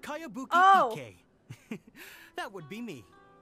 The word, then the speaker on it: Kayabuki: one i've never heard of it hmm by cowabunga icky yo mia this is a really strange name cowabunga icky who's this cowabunga it's pronounced kayabuki okay that would be me oh my god